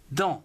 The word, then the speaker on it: dans: Dans aussi. D-A-N-S. On ne prononce toujours pas le S dans tous ces mots.